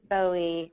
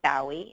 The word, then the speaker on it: Bowie: So from Adele to Coldplay to icons like the Beatles or the Rolling Stones, David Bowie, or Bowie, if you're in Britain, that's how you pronounce it.